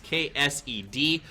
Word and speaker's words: KSED: King in the North is telling me that K-Set, or however I'm saying his name, is KSED. So I want to apologize to him for pronouncing a name phonetically, because I guess that doesn't make sense. I thought it was KS'd, like I was kill stolen.